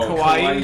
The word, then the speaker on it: kawaii: I don't know how to pronounce that word. No, kawaii.